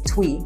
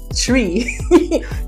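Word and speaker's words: Twi: a gentle way but my English pronunciation of that would be twe but it's actually tree you know and um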